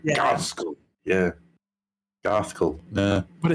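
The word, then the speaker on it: Ghazghkull: I always do it as Gazgul with the Gazgul, yeah. Gazgul, yeah. I used to as a kid, but apparently it is supposed to be Garthkull.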